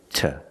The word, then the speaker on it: to: to to the park because the word two is not stressed and it's after a consonant we pronounce it ta they're walking to the